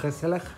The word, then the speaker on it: gezellig: But just not hygge, it's called gezellig.